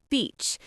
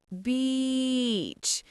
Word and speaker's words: beach: First one, beach. Beach. Be careful not to say another word that sounds not so nice. Yes. Remember, long e sound. Beach.